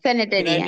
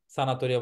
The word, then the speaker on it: sanitaria: অনেকে বলে হচ্ছে patente অনেকে বলে তেসেরা, তেসেরা সানাতোরিয়া বলে অনেকে। ন সো এটা হচ্ছে লা তেসেরা সানিতারিয়া, sanitaria সানাতোরিয়া বলে অনেকে, বেশিরভাগ বাঙালিরা এটাকে উচ্চারণ করে